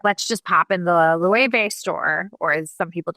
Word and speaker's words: Loewe: and she's like, let's just pop in the Loewe store, or as some people don't know, Loewe, Loewe, that's how it's pronounced.